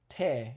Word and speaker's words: tear: when you use t tear in these ways but pronounce it to rhyme with hair another word t what